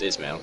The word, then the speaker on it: Ismail: It's just Ismail. Okay. Like he is male.